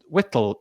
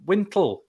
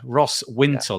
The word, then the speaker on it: Wintle: No, oh my goodness, I've Wintle. I've forgotten how to pronounce his surname. Hold on, let me just kind of find it quickly. Oh dear, Ross Wintle. Yeah, It's got an N.